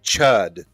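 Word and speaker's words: Chüd: The Ritual of Chewed is spelled C-H-U with an umlaut and D. So it's supposed to be chewed, but it's actually chud. So it's just chud.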